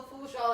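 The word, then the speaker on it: Fourchon: Am I pronouncing that right? That's right, Fouchon.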